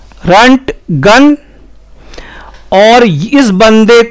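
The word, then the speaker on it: Röntgen: तो ये बंदा बेसिकली जर्मन था और इसकी जर्मन भाषा में जो उच्चारण होगा इसके नाम का वो होगा रंट गन। रंट गन और इस बंदे को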